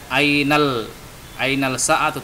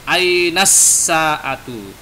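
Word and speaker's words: الساعة: Jadi tidak ainal sa'atu tapi ainas sa'atu.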